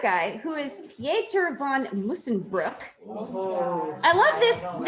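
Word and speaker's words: Musschenbroek: So anywho, the way I've been told to pronounce this OE combination is you make your mouth like you're saying the word book, but you try to say ooh. So it's like book.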